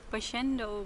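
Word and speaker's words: Boschendal: My wife will now pronounce the name of the winery. Boschendel Winery.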